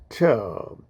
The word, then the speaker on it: tau: Neurofibrillary tangles are abnormal accumulations of a protein called tau, or it's pronounced as TER, that collects inside neurons.